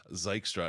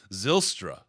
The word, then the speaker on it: Zylstra: he was bill strauss i was gonna say zykestra and i think that's a freaking car dealership zylstra zylstra um yes it is viltra by the way um from the official um lions pronunciation guide though i will say when you hear him say it so i live in zeeland michigan and it sounds like he's sailing saying zeal real fast like zeal straw yeah i'm almost